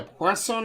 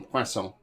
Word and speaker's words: poisson: Which fish can be known in French as a poisson épais? How are you not pronouncing the N in poisson?